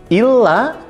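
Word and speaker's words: إلا: Illa yaitu terdiri dari hamzah dan lam alif. Di atas huruf lamnya ada tasydid. Maka illa yang ada tasydidnya mempunyai arti kecuali. Ingat, illa yaitu kecuali.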